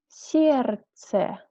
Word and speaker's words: сердце: When we have lots of consonants in the middle of the word, sometimes some of them we do not pronounce. We write them, but we do not say them. Look like here, сердце. We skip this d.